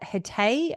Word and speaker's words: Hatay: They stated that Hatay, I think you said is how it's pronounced, province was the first affected area.